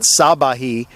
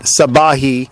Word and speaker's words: Sabahi: know very politely that the emphasis is on the middle syllable of his last name. It's not Sabahi. I've been messing it up the last 2 or 3 games. But Sabahi, I'll get that right.